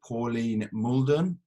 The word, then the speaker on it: Pauline Mouldon: uh this week we've got on the show pauline muldon did i pronounce that correctly yeah yeah good good um